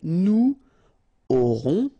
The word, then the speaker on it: aurons: Nous aurons, final S not pronounced, O and N together, nasal, on, A-U-O, auront, alright.